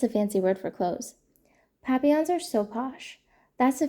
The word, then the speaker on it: papillon: You say it like this, papillon. In French it means butterfly.